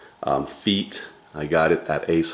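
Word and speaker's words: Feit: It's actually F-E-I-T, feet.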